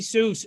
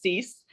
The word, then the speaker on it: Seuss: love to help stacy seuss uh dr seuss nothing i mean dr seuss did you get that all growing up are you any relation uh that's my married name um it's pronounced cease and we get sorry